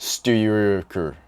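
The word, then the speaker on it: Styrkr: It looks like Striker, but there's no vowels in it. It's just Styker.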